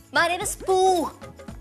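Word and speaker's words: Pooh: हे my name is पू पी ओ ओ एच पू। पी ओ ओ भी ता पू ही बनता है ना। H silent.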